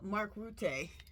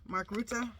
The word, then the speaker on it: Mark Rutte: So, um, true crime is what we're going to use next for, uh, Mark Route. Ruta, Mark Ruta, that's how you say his name.